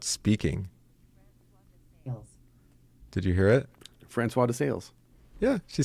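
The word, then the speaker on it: François de Sales: Francois de Sales.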